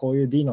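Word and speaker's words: Deno: いますというところとあとは発音の仕方なんですけどこれ d のというふうにあの読むらしいです元々あの子でのって呼んでて短かったんです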